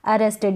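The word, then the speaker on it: arrested: गिरफ्तार या पकड़ा गया अरेस्टेड यहां पर ये जो लास्ट में टिड करके यानी इड का साउंड पूरा आ रहा है इस इड को आप बोलेंगे प्रोनाउंस करेंगे इसका उच्चारण होगा इंग्लिश में काफी सारी स्पेलिंग्स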